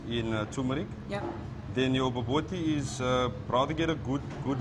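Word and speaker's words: bobotie: It's baboti? Baboti. You pronounce it boboti.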